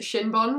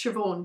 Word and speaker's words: Siobhan: and decided from the spelling of it to pronounce it Shinbon, which to be fair is funny. If you didn't know, it's Siobhan, by the way.